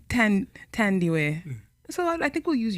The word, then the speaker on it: Thandiwe: Thandiwe. Right? I like the way you said I know. I like his way better. Cool, say it one more time. Thandiwe. Thandiwe. Wow. Yeah. I've been saying Thandiwe.